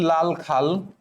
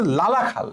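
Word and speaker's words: লালাখাল: সিলেটের লাল খাল, সিলেটের সিলেটের লাল খাল, নাটোরের লাল খাল, আসলে এটা উচ্চারণ হচ্ছে লালা খাল, ঠিক আছে, লাল খাল না বলে লালা খাল বললে ভালো হয়, লাল খাল বলে অনেকে, লালা খাল বলে।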